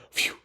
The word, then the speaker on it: phew: I believe it's pronounced phew.